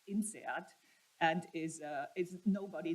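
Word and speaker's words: INSEAD: your question uh the the French institution is actually generally pronounced in seat and is uh is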